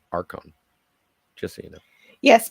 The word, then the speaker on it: Archons: also um admiralty just for the record it's pronounced Arkham just so you know yes but every time in the chat he would spell it arshons so yeah I pronounced it the way he